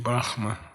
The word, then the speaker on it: Brahma: Brahma. Brahma. Okay? Brahma. Correct pronunciation. Brahma.